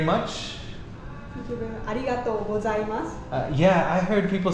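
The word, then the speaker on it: ありがとうございます: Arigato gozaimasu. Yeah, I heard people saying arigato gozaimasu? Go. Go. Like with a G. G. Ah, arigato gozaimasu.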